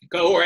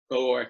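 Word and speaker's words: Cahors: Cahor, and it's two syllables, two syllables, not one. Yeah. Cahor, thank you.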